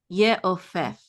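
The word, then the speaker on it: יְעוֹפֵף: Read that last syllable. Ha. Fef. That's a fe and a face of feet. Ye'ofef.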